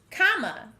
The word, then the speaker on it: comma: Comma. Notice that we hear the sound at the end of the word.